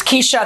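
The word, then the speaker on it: Keshia: It's Keisha, the I is silent.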